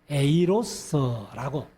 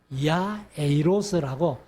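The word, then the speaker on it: Ἰάϊρος: 그래서 이 야이로라는 그 이름, 그래서 이제 우리는 야이로라고 적었는데 야에이로스라고 야에이로스라고 헬라어로 이렇게 이제 정확한 발음은 그렇습니다. 그것의 뜻이 뭐냐면은 그가 깨우치신다 그런 뜻이에요.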